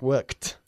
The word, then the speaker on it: worked: Eso es, worked. Don't forget that T sound at the end.